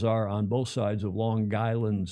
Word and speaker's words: Long Island: The they pronounce it lawn lawn like your front lawn, l a w lawn guy island. The G goes on the second word.